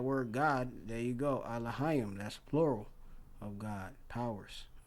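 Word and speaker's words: אלהים: Second entry, Elohim. Elohim. And we don't pronounce it. And the third entry, Eloach. Eloach. Yeah, we don't pronounce it that in the Lashawan Qadash.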